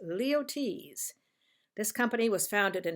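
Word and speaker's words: Luyties: tell you how to pronounce it and it's pronounced leotes this company was founded in 1853 but perfumes came out about 1916.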